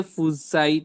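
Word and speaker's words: fuchsite: कुछ वो आता है ना क्या रूबी के फसाइट इसको प्रोनाउंसिएशन क्या होगा फसाइट हां फुसाइट हां बताएं क्या चीज आता है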